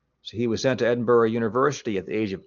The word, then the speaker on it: Edinburgh: That's how you pronounce that, Edinburgh, Scotland, in 1711.